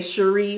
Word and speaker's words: Cherie: I say my name, I have to say Cherie like Marie.